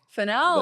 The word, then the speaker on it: Fennell: Those will be down below because I'm going to say her name wrong again. Fennell. Fennell.